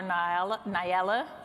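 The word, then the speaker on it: Na'ilah: Joining us tonight are Nyala, pronounced like umbrella, Amaru, an advocacy and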